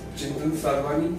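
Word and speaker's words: Chintan Sadhwani: My name is Chintan Sarwani, C-H-I-N-T-A-M, space, S-A-D-H-W-A-N-I, and nothing is silent.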